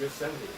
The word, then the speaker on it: Yosemite: It is Yosemite? The T is silent? No, it's Yosemite.